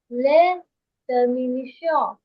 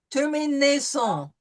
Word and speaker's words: terminaisons: Les terminations. Terminaison. See, we have an AI followed by the SON.